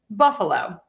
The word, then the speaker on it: Buffalo: So we have the main stress on buff. You're going to unstress the schwa. And then low gets a little bit of stress there. Buffalo, Buffalo, Buffalo.